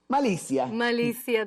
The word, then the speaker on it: Malizzia: Am I pronouncing that right? Malizzia, there you go.